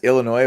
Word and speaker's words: Illinois: the tournament feature uh two teams where the S is silent that's funny yeah man at this point it's Illinois versus duzn you know